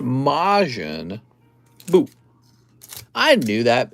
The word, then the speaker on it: Majin Buu: male gaze not the male gays majin not majon i thought it was pronounced mayonnaise all right the star wars cards dude star